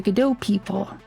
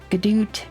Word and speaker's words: Godot: The Godot, the Godot people who run Godot have canonized all pronunciations of Godot. So you can say Godot, Gadoot, Jodot, Jodoot, or Godot.